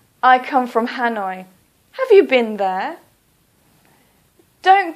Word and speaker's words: Hanoi: so for example Hanoi please don't say hat noi police say Hanoi or for example Calcutta